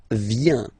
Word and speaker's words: viens: First form, je viens, final S not pronounced, je viens.